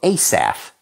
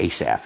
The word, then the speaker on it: Asaph: it's a Rapture term is how they say it we say asaph in in America ASAP Asaf it means The Gatherer